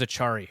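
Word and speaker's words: Acciari: and I think it is Achari, by the way.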